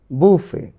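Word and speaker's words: buffet: বুফে, বুফে, বুফে।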